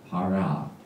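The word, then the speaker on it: פרעה: 보면은요 바로가 아까도 나왔지만요 페이 라 파라 파라 이렇게 발음하죠 그런데이 페라의 원래 뜻은요이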